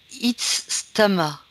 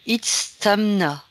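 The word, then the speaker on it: Itzamná: Alors, le premier s'appelle Itztama. Alors, je recommence, je l'ai peut-être mal prononcé. Itztamna, le dragon.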